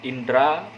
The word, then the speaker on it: indera: itu Indra naik seperti indra penglihatan indera penciuman Hai sering orang menyebutnya Indra tapi seharusnya Indra ada huruf Edi belakang huruf-huruf d-spray itu jadi seharusnya indera penciuman indera penglihatan Hai mungkin terdengarnya bisa ah